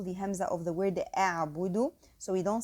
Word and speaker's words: أعبد: So a'budu, the ba is bu, not bo, and the dal is do, not do.